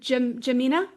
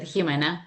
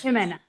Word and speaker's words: Jimena: Yes, is it Jamina? Yeah, you can pronounce it Jimena in Spanish. Jimena.